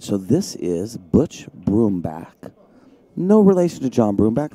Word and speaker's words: Brumback: don't say there is you prefer the broom back instead of brown back yes i spelt like it's i i say it like it's b-r-o-o-m is that what you're